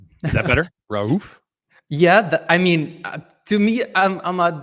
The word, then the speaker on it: Raouf: More emphasis on Raouf. Is that better? Raouf?